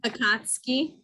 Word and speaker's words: Akatsuki: Akashiku, Akatsuku, Akatsukui, Akatsukui, Akatsuki.